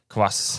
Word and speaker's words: kvass: How do you pronounce it? Kvass.